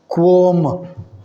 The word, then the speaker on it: qualm: The last word is quom. L is silent. Quom. L silent but not qua. Quo. O. Like squad. This is not square. Squaw. Likewise, quom. Feeling of doubt or worry.